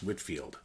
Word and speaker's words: Whitefield: and evangelist George Whitfield spelled Whitefield but pronounced Whitfield Whitfield was an ordained minister